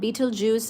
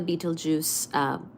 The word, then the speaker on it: Betelgeuse: I hope that we see Betelgeuse supernova, and Betelgeuse is spelled as Betelgeuse, okay? Not like the Beetlejuice, like fruit juice.